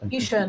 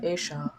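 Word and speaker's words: ईश: So But that's Isha, not Esha. That's Isha, like that's for Dwarka Dhish, Lord Krishna.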